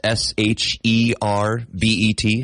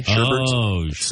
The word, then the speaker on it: sherbet: the fruity ice cream it's not ice cream but it's s h e r b e t sherbet not sherbet it's sherbet is it we add an extra R in there why aren't we saying